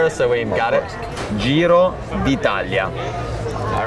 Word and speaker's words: Giro d'Italia: Can you pronounce Giro d'Italia for us so we got it? Giro d'Italia.